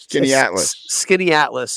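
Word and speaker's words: Skaneateles: on a dog gets skinny Atlas is how the locals say it yep skitty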